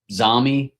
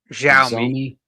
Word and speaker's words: Xiaomi: Xiaomi. How do you say that? Xiaomi.